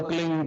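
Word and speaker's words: क्लीं: फैले उस होता है एक शब्द क्लीन शब्द क आधा ल में मिला हुआ बड़ी की मात्रा और बिंदी उसका उच्चारण होगा क्लिंग ग ग की निकलेगी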